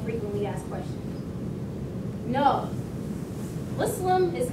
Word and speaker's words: Muslim: No, Muslim is not pronounced like Muslim.